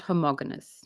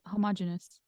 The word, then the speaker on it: homogeneous: it changes it's not homogenous homogenous homo how do I pronounce that yeah yeah you had it homogeneous homogeneous homogeneous yes it's not stable